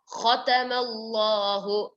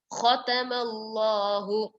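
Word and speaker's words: خَتَمَ اللَّهُ: Khatamallahu. Khatamallahu. Kha comes from the throat.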